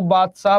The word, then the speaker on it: बादशाह: ना बादशाह बोलते हैं जब खेलने के मूड में आ जाते हैं तो जल्दी में बाशा भी बोला जाता है है ना उसमें से द साइलेंट कर देते हैं लोग है तो बासा भी बोल देता तो यह चार चौका